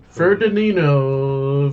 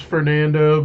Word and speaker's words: Fernando: Ferdinando. Ferdinando. His name's Fernando, but the whole movie, Jason says his name wrong. Says a different name every time.